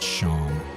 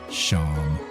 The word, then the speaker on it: Seam: The name Seam pronounced Sham. Perfect. Sham.